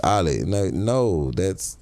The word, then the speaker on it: Ali: Ali.